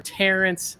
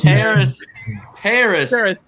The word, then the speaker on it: Terrace: The Carolina Panthers select LSU wide receiver Terrence Marshall. Yeah, Terrace Marshall. Sorry, go which ahead. is I always pronounce it wrong because it I don't know, it's different.